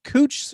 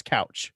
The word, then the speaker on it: Couch: we have uh it's it's pronounced cooch street but it it reads as couch yes so you know